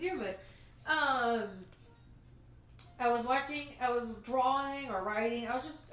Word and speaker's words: Diarmuid: No, it's not Diarmuid. It's Diarmuid. It's like they're butchering these Irish names.